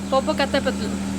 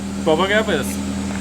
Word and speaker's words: Popocatepetl: Karina, can you tell us how to properly pronounce the name of this thing? Popocatepetl. Popocatepetl.